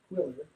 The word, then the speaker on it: Qwilr: Spell it, It's oh, that's better. That's much better. It's I know. it's QWILR, Quiller, and sales automation.